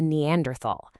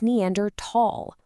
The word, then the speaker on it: Neanderthal: But in the scientific community, it's Neander Tall. Why? Because the cave in Germany where their first fossils were found is the Neander Valley or Neander Tall, pronounced with a hard T.